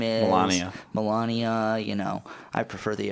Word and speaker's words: Melania: relationship with Melanie or whatever her name is Melania you know I prefer the American pronunciation and just we look at these and